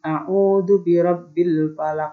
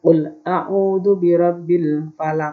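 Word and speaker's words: أعوذ برب الفلق: full tahu dubirobil palate karena ini berhenti pada ayat Pak cara membacanya diwakafkan maka huruf yang berharakat hidup maka dibaca sukun dibaca mati maka disebut qolqolah kubro full a'udzu birabbil Falaq kau tidak boleh dibaca ultahku dubirobil Valley Hai yang selanjutnya Mi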